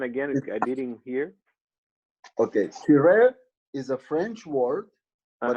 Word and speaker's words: Tiret: Okay, Tiret is a French word, but also a Russian word. Actually, in French, say Tiret. You don't pronounce the last T.